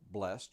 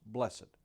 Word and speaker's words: blessed: but the word blessed you may pronounce it as one syllable blessed or with two syllables blessed regardless of how you